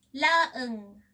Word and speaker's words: laeng: So, the Tagalog word lang in Ilocano is laeng. I know the word is hard to pronounce, so let's practice again.